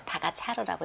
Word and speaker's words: 타가차르: 계승자가 고려사에도 나오는 그 고려사에서는 탑차라 대왕이라고 나옵니다. 몽골 발음으로 타가차르라고 읽는데 이 오치긴의 손자입니다.